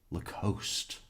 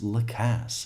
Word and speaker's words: Lacasse: It's not Lacasse or Lacoste. It's Lacasse. I mean, he says it. He's testified 4 times saying his name each and every time. And the interviews. I think the best resource for how to pronounce his name would be him.